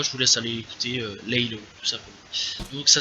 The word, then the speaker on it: Laylow: choses, donc voilà, je vous laisse aller écouter Laylo, tout simplement. Donc ça s'écrit Laylow, voilà, pour ceux qui veulent savoir.